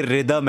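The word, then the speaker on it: rhythm: रिदम क्यों लिखते हैं जैसे रितिक रोशन है ना कि उसमें एच जो है वो साइलेंट है वैसे ही रिदम उसमें वो एच जो है वो साइलेंट होता है तो इसलिए वो रिदम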